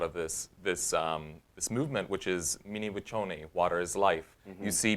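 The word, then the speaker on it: Mni Wiconi: Yeah, in Sioux it's Mniwaconi. Spell it out.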